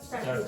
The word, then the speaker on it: started: If the verb finishes in a t, then you pronounce this as id. So say that for me. Started.